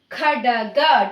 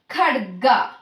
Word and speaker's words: ಖಡ್ಗ: Khadaga. Don't pronounce like khadaga. Khadga. Okay, Khadga.